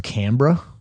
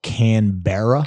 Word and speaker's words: Canberra: out in australia so they're based out of canberra okay and it looks like it's spelled canberra canberra but they call it canberra and i've been